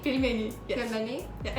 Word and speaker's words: пельмени: Can you pronounce? Pelmeni? Pelmeni.